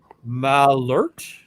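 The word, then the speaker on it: Malört: MB is saying that the O is pronounced like the in herbs. So Malort. Is that Malort? Mm-hmm. Is that better, MB?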